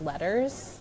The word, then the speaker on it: LETRS: I'm assuming it's pronounced letters training, which I had not previously heard about.